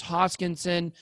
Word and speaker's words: Hoskinson: This is part 2 of my interview with Charles Hoskinson. Make sure you guys pronounce his name right---Hoskinson. There's a lot of mispronunciations out there.